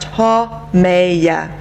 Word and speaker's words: Haumea: It's pronounced Haumea.